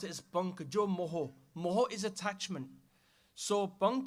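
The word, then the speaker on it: ਪੰਕ ਜੁ ਮੋਹ: Punk means a swamp, or in also some people say pankaj, as one word put together with the punk and the jajja. But we pronounce it as punk jo moho.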